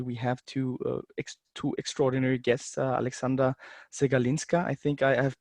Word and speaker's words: Aleksandra Przegalinska: Especially we have two extraordinary guests, Aleksandra Przegalinska. I think I have pronounced it right.